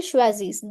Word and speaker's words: choisissent: Il choisissent So, e n t in pronunciation is silent. Il choisissent, they choose some pens.